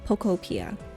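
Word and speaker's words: Pokopia: But thank you so much for letting me know that it's like Utopia, so Pocopia.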